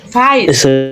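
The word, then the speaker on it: weiß: face ভাইস ভাইস ভাইস আচ্ছা এই যে এ দেখেন এর পরে যখন ই থাকে তখন উচ্চারণটা আমরা কি দেখছিলাম ইম এই যে এখানে দেখেন এই যে এর পরে যখন ই থাকে কোথায় গেল এই যে তখন আমাদের উচ্চারণ কি ছিল আই ছিল না আই তখন আমাদের উচ্চারণ ছিল আই তার মানে ভাইস ভাইস বুঝছেন এই জিনিসটা খেয়াল রাখবেন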